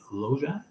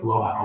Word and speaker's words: Loja: Loja is the pronunciation. Loja.